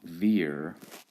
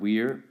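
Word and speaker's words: vir: as a v but classical Latin pronunciation generally requires you to pronounce the v as a w so here's the word Weir it is the same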